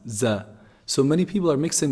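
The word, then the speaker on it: ظ: Za. Za is pronounced just between the two incisors. When you put the tip of the tongue between the two incisors and closer, slightly closer to the lower incisors, z, z produces this sound, za.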